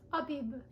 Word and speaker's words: Abib: So this one is the Abib? I don't know how to pronounce this. Oh, okay, it's Abib.